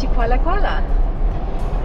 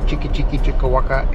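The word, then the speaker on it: Chikwalakwala: And we are passing through the town of Chikwala Kuala. And that's how you say it, not Chiki Chiki Chikawaka, Chikwala Kuala. That's the right way.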